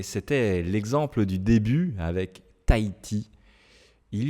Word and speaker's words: Tahiti: Tahiti, Tahiti. Alors aussi, c'est parce que le H en français, vous savez, on ne le prononce pas en général.